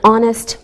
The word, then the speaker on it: honest: sounds like a vowel sound same with an honest man who don't pronounce the H we say a university because